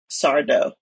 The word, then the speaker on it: Sardo: Anyway, you can't do a deep dive into are you afraid of the dark without talking about Mr. and Sardo. No mister accent on the dough.